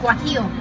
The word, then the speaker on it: guajillo: Guajillo.